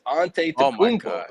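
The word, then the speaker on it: Antetokounmpo: People were still calling him Ante Labumbo or Ante Tupumpo. It's like, yo, it's Ante Tupumpo.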